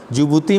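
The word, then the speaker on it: Djibouti: जिबूती में जो Z है उसको साइलेंट कर दीजिएगा, तो D साइलेंट है, जिबूती में, ठीक है। DJ से शुरू होता है, स्पेलिंग जो है जिबूती की DJ से शुरू होती है, इसलिए यहाँ पे जिबूती। ई से इरिट्रिया, एस से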